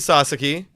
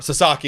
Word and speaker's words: Sasaki: going to be either Roki Sasaki, or Sasaki, excuse me, sorry. I literally, every time I say his name now, I have to catch myself.